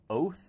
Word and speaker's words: Oath: a little tricky um you pronounced my last name oath like oath of office kind of a strange